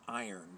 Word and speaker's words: Yron: So iron, in the 1560 Geneva Bible, begins with the letter Y. It doesn't have the Y sound. It has the I sound.